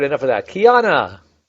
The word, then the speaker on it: Keyonna: Keyonna, is it? Am I pronouncing it correctly? There's so many ways to say it. No, Keyonna. Keyonna. Yes, Keyonna. Welcome to the show.